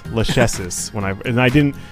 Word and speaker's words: Lachesis: pronounce that because I have a hard time pronouncing her name it's it's lucky sis it's a it's an actual Greek name um